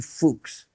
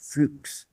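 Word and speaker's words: Fuchs: His name is actually fuks fuks.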